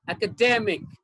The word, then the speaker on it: academic: in the word the correct one is second academic academic academic and okay okay academic okay academic okay the second one is stressed okay fine okay did